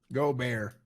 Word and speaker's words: Gobert: How do I pronounce it, Manuel? Gobert. Gobert. Gobert. Gobert. Gobert. Say it again. Gobert. Gobert. Gobert. Gobert. So like Gobert? Yeah, that's perfect. Go Bear. Go Bear.